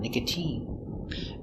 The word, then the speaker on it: nicotine: mine Valentine Valentine but sometimes it's pronounced with the sound e like nicotine use the e sound nicotine and sometimes it's sounds